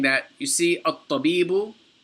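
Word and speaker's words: الطَّبِيبُ: So for example, he's saying that, you see, at-tabibu, the alif here is pronounced. You say at-tabibu, because it begins the sentence, there's nothing before it.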